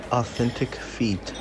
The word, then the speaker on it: Authentic Feet: O pessoal aqui no Brasil fala Authentic Fit, né? Mas a pronúncia em inglês é Authentic Fit.